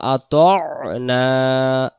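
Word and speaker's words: وَأَطَعْنَا: ওয়ায়াকুলুনা আমান্না বিল্লাহি ওয়াবির রসুলি ওয়া আতা'না আইন অক্ষরটা উচ্চারণ হবে ত আইন জবর ত।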